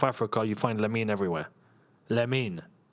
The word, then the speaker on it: Lamine: Lamine. That's how it's actually said.